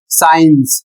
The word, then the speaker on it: science: अगला शब्द है एस सी आई ई एन सी ई जिसका प्रोनाउंसिएशन है साइंस।